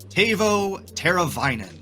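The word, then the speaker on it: Teuvo Teräväinen: This name is pronounced Tavo Teravainen.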